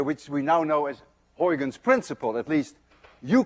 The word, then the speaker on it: Huygens: we now know as Huygens principle. At least you call it Huygens principle. But we don't call it Huygens principle. You see, this sound, UY, is pronounced in Dutch as ui.